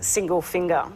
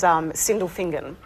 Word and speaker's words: Sindelfingen: Okay, because I actually thought it was single finger, but it's Sindelfingen.